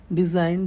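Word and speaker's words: design: है सैंडविच होता है डिजाइन डिजाइन में जी साइलेंट है ठीक है नोट में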